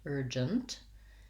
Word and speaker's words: urgent: So urgent has first syllable stress. It has the vowel or the tight back in the beginning. And then again, my j, my letter G says the j sound, urgent, and a schwa, nt.